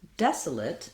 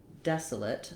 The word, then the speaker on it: desolate: and the clear A, but in the word desolate, in the adjective, we don't have a clear vowel for the late letters. So same syllable stress pattern, isolate, desolate. The des is stressed, it's longer. It has the clear vowel like in red.